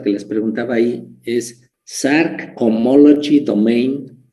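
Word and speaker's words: Src: en este tema y se pronuncia como si hubiese una después de la s se pronuncia shark la asignada shark es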